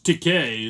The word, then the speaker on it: Takei: deck okay as uh george takei that rhymes with gay eloquently put it he